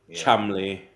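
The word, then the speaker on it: Cholmondeley: and oh um yeah Aaron's already mentioned mannering Chumley barmy fathering gay fips funy fips funy fips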